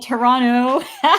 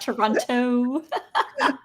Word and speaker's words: Toronto: You said Toronto, not Toronto.